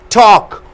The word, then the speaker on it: talk: Talk. Walk. Fork. Arms. Palm. So give a speech pronouncing the L sound.